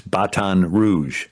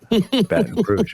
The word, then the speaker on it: Baton Rouge: And you know the pronunciation of Red Stick in French. It's Baton Rouge. Baton Rouge.